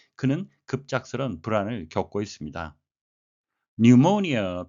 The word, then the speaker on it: pneumonia: pneumonia, P는 묵음이 되겠습니다. A serious illness, 아주 심각한 질병인데요.